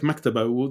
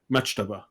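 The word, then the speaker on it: مكتبة: say and uh but other words with the ka like maktaba nobody will say machtaba nobody will say that so it's really interesting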